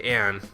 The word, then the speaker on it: An: That girl's name is An Takamaki, right? Sure, you say on, I say Ann. Tomato, tomato.